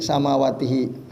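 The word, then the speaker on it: سماواته: Karena samawat itu bentuk jamak muannas salim, maka ketika dia menjadi objek bacanya jadi samawatihi. Harakatnya kasrah ya. Karena dia dari isim jamak muannas salim. Maka baca samawatihi wa ardhu beda ya.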